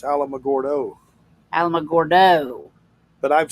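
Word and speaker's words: Alamogordo: It's not Alamagorda. What is it? It's Alamagordo.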